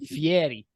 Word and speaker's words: Fieri: play podcast critically stupid we are married it's pronounced Fieri oh well me very much